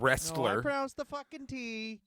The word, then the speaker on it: wrestler: pronounce the T but the t is silent as well yeah if you pronounce